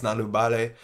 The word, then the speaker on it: Nalubale: That's how it's pronounced. It's Nalubale.